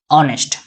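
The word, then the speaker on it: honest: है एक्चुअल में इसको साउंड प्रोनाउंसिएट करेंगे क्या ऑनेस्ट कैसे साउंड प्रोनाउंसिएट करेंगे ऑनेस्ट ठीक तो इसके अनुसार से क्या लगेगा हमारा एन लगेगा ठीक है ना?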